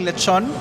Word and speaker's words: lechon: We have uh an order of uh spicy lechon. So, as I Yeah, I should start by pronouncing it correctly. Lechun.